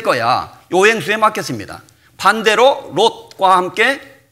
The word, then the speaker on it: 롯: 룻, 롯, 룻 발음이 다르죠. 롯, 오, 룻, 우 방향이 정반대예요.